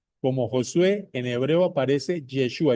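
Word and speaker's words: ישוע: Josué en fonética hebrea se pronuncia como Yeshua. Lo voy a repetir. Aquí el nombre que tradujeron como Josué es en hebreo Yeshua.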